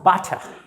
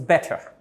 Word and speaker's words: better: It's not butter. I take bread and butter. And this one is better. When you pronounce, you don't need to pronounce the sound of the R. Keep it on your tongue, on your throat, better.